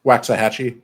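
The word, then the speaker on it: Waxahachie: uh H wax aiti how do you pronounce it wax waxah hatchee waxah hatchee okay so um the whole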